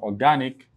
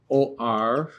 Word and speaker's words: organic: This is the second to the last syllable where you have the stress being placed in organic.